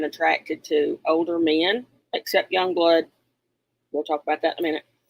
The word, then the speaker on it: YUNGBLUD: So it's not spelled like it's supposed to be. But young blood.